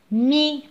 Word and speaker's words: mis: لا ننطق حرف S في الأخير. Mis.